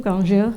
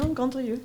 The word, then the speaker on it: Grandrieux: Grandrieux, I'm going to mispronounce it. Did I do that right? No, Grandrieux. Grandrieux.